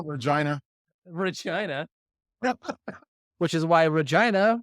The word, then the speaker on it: Regina: Regina which is why Regina rhymes with fun they did run that